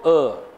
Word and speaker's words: err: To err, R is silent, means what?